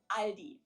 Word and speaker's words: Aldi: and say all these in Germany we just say ali it has it origins in 1945 brothers teo